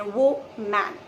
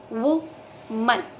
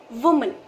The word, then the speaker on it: woman: this word is because इस word के अंत में आता है man शब्द. तो अक्सर जब हम woman pronounce करते हैं, man शब्द को उसमें वो में लगा के pronounce कर देते हैं, वो man. Okay? But actually the correct pronunciation of this word is woman. Woman. मन. MUN को जैसे आप प्रोनाउंस करेंगे, मन. आपका मन डिजर्ट खाने को जैसे करता है, वो वाला मन.